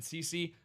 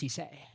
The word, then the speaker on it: Cisse: I mean, obviously, Brandon Cece, maybe we can get him in here, your first-round corner, right, that you drafted. It's actually pronounced Cisse. Cisse. It's fancy, all right? It's French.